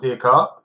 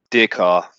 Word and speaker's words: Descartes: Well, there's a man, 17th century in France, called Descartes. If I pronounce that correctly, we'll talk about the pronunciation.